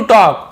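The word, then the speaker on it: talk: he tried to टॉक, उसने tried यानी कोशिश की, टू टॉक यानी बात करने की कोशिश की, टॉक ना टॉल के नहीं बोलेंगे, एल साइलेंट है, बात करने की कोशिश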